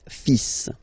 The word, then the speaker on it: fils: So it's le, and then even if you've got this L, well, basically you don't pronounce it, and then strangely you pronounce the final S. Le fils.